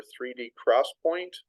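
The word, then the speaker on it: 3D XPoint: RAM and hard disk optane or 3D Cross Point it's spelled X point it's a new innovation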